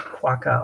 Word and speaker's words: quokka: I'll write quokka on here, because just so that people know how to spell it, because So that's that's Quuo.